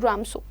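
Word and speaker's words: Ramsjö: RAMSJO लिखा जाता है लेकिन द करेक्ट प्रोनाउंसिएशन इज रामसो.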